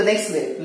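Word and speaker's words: knag: Absolute right, इसको नैक पढ़ेंगे क्योंकि के साइलेंट है, के की आवाज इसमें नहीं आएगी क्योंकि के और एन साथ में, इसलिए इसको के एन ए जी से नैक पढ़ेंगे.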